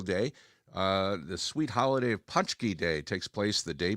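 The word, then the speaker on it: pączki: I think they pronounce them punchki, I believe.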